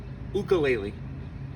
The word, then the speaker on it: ukulele: it the jumping flea, which in Hawaiian is pronounced ukulele.